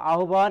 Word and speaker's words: আহ্বান: এবার দেখো আহ্বান এর প্রমিত উচ্চারণ, এটা অনেকবার এসেছে এবং এর নিয়মটা দেখো, যদি আকারের পরে হয় ব ফলা থাকে, তাহলে হয়ের স্থলে হবে ও, আর বয়ের স্থলে কি হবে বলতো, ভ হবে।